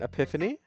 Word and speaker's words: epiphany: Uh uh uh a pip nigh recently. It has been influencing my poems a bit. So J chat GPT AI and epiphany.